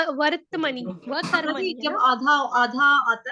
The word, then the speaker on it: वर्त्मनि: लेकिन आएगा वो कहाँ पे, किसके बाद आएगा, व के बाद बोलना है र के बाद बोलना है त के बाद बोलना है म।